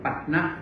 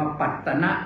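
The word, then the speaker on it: ปัฏนะ: นี้ ก็ เรียก เมือง ปั นะ นะ โยม อย่า ไป อ่าน ว่า ปัตนะ นะ ต้อง ปั นะ เท่า นั้น ปัตนะ ผิด นะ ก็ ต้อง ปัด นะ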